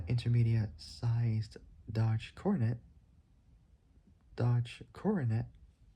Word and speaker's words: Coronet: Forgot how you pronounce it. Say Dodge Coronet. I might talk about that car one day. I don't know. Probably. Probably not. I don't know. Say Dodge Coronet. Spelled C O R O N E T.